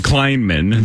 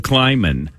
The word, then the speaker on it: Kleinman: a an which is I'm laughing because you called him kleinan there's no n until the end of Kleinman kleinan all right you guys ready anyway so anyway Dove Kleinman said what he tweeted